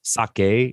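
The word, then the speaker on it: 鮭: a special name discount so this sounds like sake like the alcohol but sake is how you say salmon in japanese okay if your name had the sound sake in it uh then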